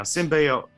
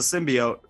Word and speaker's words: symbiote: i always forget how to say it now symbiote symbiote that trailer screwed me forever symbiote um